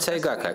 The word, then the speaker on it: сайгак: помощью рисования думаю пора начинать итак давайте рисовать сайгака кстати как правильно произносить сайдак илистый как сайгак ага хорошо просто